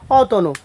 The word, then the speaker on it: অতনু: ঠিক এরকম আরও আমরা বলতে পারি, যেমন অতনু, আমরা এটার বলতে পারি অতনু, এটা তোমার বানান হচ্ছে অ ত দন্ত নরসকার, উচ্চারণ হবে অ ত ওকার দন্ত নরসকার, অতনু।